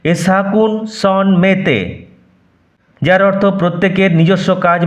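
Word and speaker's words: à chacun son métier: এরপর একটি ফরাসি বাক্যাংশ রয়েছে, এ সাকুন সন মেতে। উচ্চারণ, আই রিপিট, এ সাকুন সন মেতে। এর অর্থ প্রত্যেকের নিজস্ব কাজ বা পেশা রয়েছে। উচ্চারণ চাকুন সন মিটিয়ার হবে না, এ সাকুন সন মেতে, যার অর্থ প্রত্যেকের নিজস্ব কাজ বা পেশা রয়েছে।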